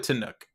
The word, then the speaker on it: Tannuk: I only say Tanuk because it doesn't have an E at the end, and I feel like that feels more Trekky.